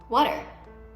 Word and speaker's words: water: ตรงกลางด้วยนะคะ chopping board เขียงนั่นเองนะคะ tongue ที่คีบนั่นเอง TONG tongue water อ่านออกเสียงดอเด็กตัวทีตรงกลางนะคะ water I like to drink water Do you like to drink water?